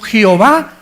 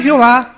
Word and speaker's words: Jehová: no tiene vocal el nombre de Jehová no tiene vocales nosotros se las pusimos e o Je o y la pusimos tres vocales para decir yova o yah o Jehová el judío no lo